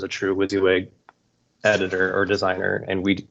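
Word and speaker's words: WYSIWYG: the xaml designer yeah the wizzy wig can you all hear me is that how you say it yeah you're coming yeah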